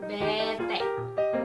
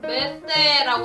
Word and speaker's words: bete: 완전 지루해, 완전 심심해 할 때 BETE라고 하는데요. 이제 인도네시아어에서는 알파벳 B를 메, T를 때라고 읽어요. 이게 어떤 단어의 줄임말이냐면 boring total, totally boring, 완전 지루하다 이런 뜻에서 이거를 줄여서 이제 BETE라고 합니다.